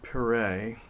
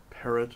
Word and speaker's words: Perret: Frank Albert Pereé or Parrot as some people would prefer to pronounce it with an English pronunciation uh was just a